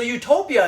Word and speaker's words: Utopia: We don't know how it's meant to be pronounced. It could also be pronounced Utopia, in which case it'd mean no place.